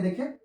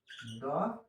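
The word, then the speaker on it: the: तो क्या होगा यहाँ पे देखिए, Ram goes to द school, दी school. ठीक है, द कहीं और अलग प्रोनाउंसिएशन होता है, दी होगा यहाँ पे, दी स्कूल।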